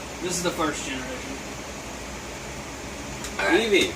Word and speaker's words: Eevee: Eevee, pronunciation Eevee, height 1 foot.